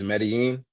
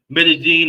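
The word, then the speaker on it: Medellín: Uh, and when you hear double L's, it almost sounds like a J in Spanish.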